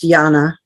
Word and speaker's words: Jana: okay that's okay um it's actually pronounced Jana with a J yeah I know okay I apologize Jana yeah um so I